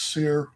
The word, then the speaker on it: Cyr: Sears down here, it's spelled S-I-E or S-I-R-E. Sometimes you'll see it S-I-R-R-E. But that's Cyr.